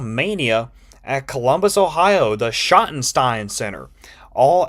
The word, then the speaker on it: Schottenstein: But I'm also glad that you know how to pronounce the Schottenstein Center, because I was going to say like Scotchensen or something. Scotchenstein.